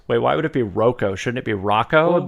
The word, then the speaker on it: Rocco: Rocco. I for years thought it was Rocco, but then like a year or two ago I was like, wait, why would it be Rocco?